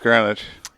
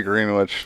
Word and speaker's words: Greenwich: Yeah, I say Greenwich because, like, you know, That's how it's you spelled. sounded. Yeah, Yeah. exactly. You sound out how it's spelled. This is Greenwich. But it's Greenwich. It's Greenwich.